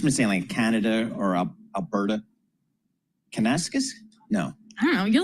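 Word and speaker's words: Kananaskis: David, what's a proper pronunciation there? Canonasis.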